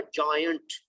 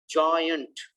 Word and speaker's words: giant: लेकिन 4th वाला भी आपने सही प्रोनाउंस नहीं किया, वो है जायंट, जायंट।